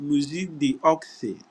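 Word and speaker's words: Musée d'Orsay: the oxy in French museum is spelled m u s e e and then the do say is the apostrophe o r s a y so it's called music the ox but they usually call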